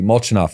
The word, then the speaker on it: Molchanov: And again, Alexey Molchanov, I pronounce it right. Yeah, Molchanov? That's correct.